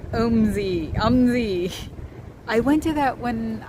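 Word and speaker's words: OMSI: Pronounced omsyz.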